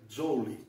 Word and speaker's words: Joule: Resultado, se ele estudou em Manchester e ele era inglês, a pronúncia em inglês seria Joule. Nós ouvimos muito falar jaula, inclusive eu usei muito jaula, mas eu vou começar